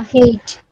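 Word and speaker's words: hate: না স্যার আমরা দেখি আমরা যদি বলি এইচ এ টি ই আমরা হেটি বলবো হেই হ্যাঁ বলো না হেইট হেইট হেইট হেইট কি হলো দেখো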